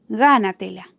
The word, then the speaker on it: gánatela: Gánatela. Gánatela. Gánatela lleva su acento en la antepenúltima sílaba, por lo que es una palabra sobreesdrújula y lleva el tilde en esa misma sílaba, que es la sílaba tónica.